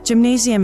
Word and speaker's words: Gymnasium: In the German language, gymnasium is said with a hard G-G-A, rather than a soft G-J-A as in English.